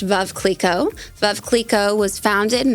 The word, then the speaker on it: Veuve Clicquot: So, it's actually pronounced Veuve Clicquot.